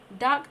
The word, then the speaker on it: DARQ: I've played Dark. That's played that's spelled DARQ.